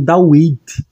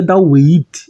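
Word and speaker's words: דוד: Tem pessoas que pronunciam como David. Gente, não é David, é David. David, vid. Entendeu?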